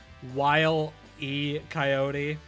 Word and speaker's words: Wile E. Coyote: It was like, you ever just sit down and think about how his name is technically pronounced Wile E. Coyote?